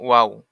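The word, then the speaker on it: و: এর পরের অক্ষরটা হচ্ছে ওয়াও। বলছে র অক্ষরের উপরের মাথা পেঁচানো, তার নাম ওয়াও।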